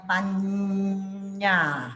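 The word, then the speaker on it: paññā: Ini pakai ting tung gitu ya. Bacanya panya gitu.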